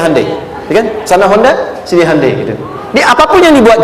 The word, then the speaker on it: Hyundai: ketika di sana bikin Honda sini Handai hyundaikan dibacanya Handai gitu Ini apapun yang dibuat Jepang Korea harus